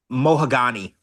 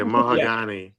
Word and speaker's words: Mahogany: Um, she says she calls her Moagani. Oh yeah, Moagani.